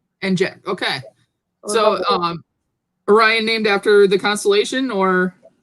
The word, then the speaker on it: Orion: Now, see, here in Michigan, they don't say Orion. I got chastised for saying it wrong. Here in Michigan, we call it Orion. I don't know why. It's just what they say.